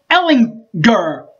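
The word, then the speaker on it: Ehlinger: of texas and sent ellen gur hit that hard g baby got him by 10 points last week last year in fort worth by the way 37 to 27.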